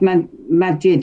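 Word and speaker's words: Maajid: I'm shocked about it as well, mate, because someone, before you carry on, it's pronounced Majid, isn't it?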